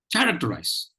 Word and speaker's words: characterize: listen to the pronunciation the pronunciation goes like this characterize characterize characterize characterize now if you notice there is only one stress syllable in this word the the first syllable care Tech enter are